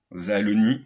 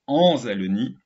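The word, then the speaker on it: Ansalonie: Azalonie, j'ai toujours dit Azalonie, et non, c'est Anzalonie.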